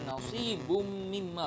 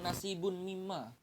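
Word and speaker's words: نَصِيبٌ مِمَّا: Jadi bacanya nasibum mimma, bukan nasibun mimma.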